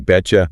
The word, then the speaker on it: betcha: There is the T sound at the end of bet and the J sound at the start of you blend together to make a T sound. Betcha.